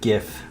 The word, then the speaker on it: GIF: i also have a gif hard g gif spinning there you go